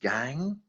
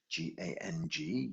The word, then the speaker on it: gang: into two parts and the first part of it is gang g-a-n-g gang and then we melt